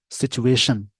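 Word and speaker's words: situation: देखा आपने, TION last में लगा है, इस वर्ड का प्रोनाउंसिएशन शन में जाएगा। सिचुएशन, कि सिचुएशन क्या है,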